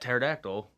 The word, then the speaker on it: pterodactyl: A pet pterodactyl. The P is silent.